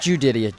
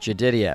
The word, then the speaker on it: Jedidia: Not Judidia, like Jedediah, only it's pronounced Jedidia.